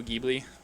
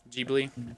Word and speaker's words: Ghibli: What kind of It's a movie is Ghibli it? movie. It's a Ghibli movie. Have you seen any What's Studio Ghibli? Ghibli movies? No. Any movies by Studio Ghibli? Ghibli?